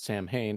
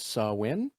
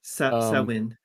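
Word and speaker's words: Samhain: Apparently, as you would read it as Sam Hain, is apparently pronounced as Sawin, That according to sounds better. Google. Um, Sawin.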